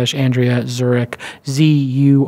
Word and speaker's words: Zurek: Co / Andrea at Zurich zu r EK like the city pronounced like the city spells lolita yes zurich